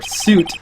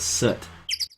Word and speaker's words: soot: already covered and set or suit as I hear people say I always Ro rosed up to pronounce it as soot anyway it must not